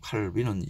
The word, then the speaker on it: 칼빈: 여왕 마고 그런 영화 꼭 보시고 종교개혁이 어떤 영향력을 끼쳤는지 르네상스가 일어나고 산업혁명이 일어나고 칼빈의 사상 칼뱅은 프랑스어고 칼빈은 영어식 발음이죠.